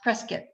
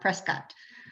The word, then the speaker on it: Prescott: Hotel in Prescott, and I was told that it's pronounced Prescott, not Prescott.